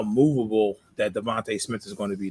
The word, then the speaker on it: DeVonta: DeVonta. I'm a Philadelphia sports fan. It is my God-given right to mispronounce an athlete's name, okay?